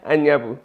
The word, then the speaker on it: Anyabu: Because I used to say N. Oh no. But it's An. Yeah. ANYABU.